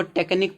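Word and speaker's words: technique: इसको टेक्निक पढ़ेंगे। टेक्निक क्यू यू ई last में आया तो इसका उच्चारण का निकलेगा।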